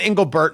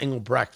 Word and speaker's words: Engelbert: Oh, and Engelbert, not Engelbrecht. Man, I do feel bad about that.